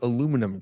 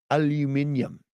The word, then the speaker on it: aluminum: Um I don't listen to advice from Scientologists or people that can't pronounce the word aluminum correctly. Aluminium is what they say in England.